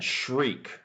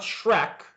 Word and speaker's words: shriek: Shriek. Does anybody know? And the pronunciation just so we have pronunciation is like this shriek almost double e not shrek like the character uh but shriek.